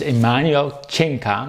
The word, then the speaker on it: Emanuel Cinca: His name is Emanuel Cinca. Did I pronounce that right?